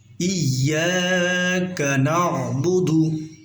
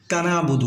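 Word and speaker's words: إِيَّاكَ نَعْبُدُ: আমরা এখানে অনেকেই বলি ইয়া পরে কানাবুদু, কাফটা আমরা না বুধুর সাথে অ্যাড করে দিই, মিলিয়ে দিই, কিন্তু না, আমরা এখানে কাফটা আলাদা করে, যেমন ইয়াকা নাবুদু এরকম পড়লে সই শুদ্ধ ভালো হবে।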